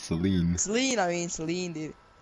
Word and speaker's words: Celine: You're gonna see Selena, just Celine.